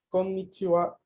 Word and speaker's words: konnichiwa: Así que por ejemplo la N de konnichiwa, konnichiwa es ko, n, ni, chi, wa.